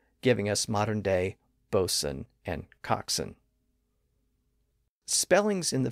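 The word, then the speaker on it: boatswain: g re n wi C but we don't pronounce the W today and if you're a sailor you're probably familiar with terms like bosen and coxen a bosen is a ship's officer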